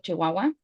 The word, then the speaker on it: Chihuahua: Like in my state you pronounce the ch a lot.